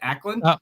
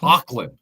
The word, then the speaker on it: Auckland: in it's in Ackland is that how I pronounce it akland Auckland Au Auckland Auckland so it's Auckland New Zealand called Dice